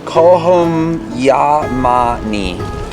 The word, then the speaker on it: Kohm Yah-mah-nee: Kohm Yah-mah-nee. Nailed it. You don't even need to try. That was perfect. Kohm Yah-mah-nee.